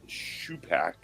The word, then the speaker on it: Shupak: It is pronounced Shupak. Okay, So you were right.